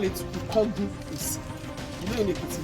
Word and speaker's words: Ikogosi: We call it IKOGOSI. You know in the Ekiti language, when you want to pronounce I, you say so it's IKOGOSI.